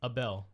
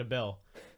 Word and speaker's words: Abel: Abel, they kept saying a bell. And right at the beginning when Albert Brook says a bell, I was like, "Oh, is he saying it wrong?" I'm like, "Oh, no. That's just how that's just his name.